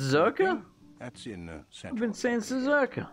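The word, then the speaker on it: Czerka: to take absolutely zero could ask at the zurka office if any bounce it's pronounced cerca that's in seven senses Urkel while you're at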